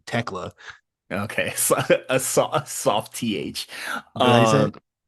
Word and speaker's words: Tekla: Yeah, it's Tekla.